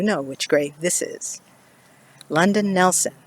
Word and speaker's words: London Nelson: which grave this is london nelson or as it was mispronounced and misspelled louden nelson he's not alone here by the way and unfortunately the stairwell put in 2012.